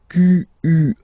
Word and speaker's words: quelle: And then the feminine form is written like that, Q-U-E-L-L-E, but it's pronounced like the masculine form.